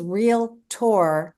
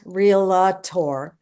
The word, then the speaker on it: realtor: The word is realtor, not realtor. There's 2 syllables.